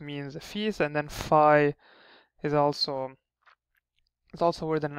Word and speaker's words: Fai: letter we have is fi uh this one is is fi it just pronounced as an F just a simple F uh looks like a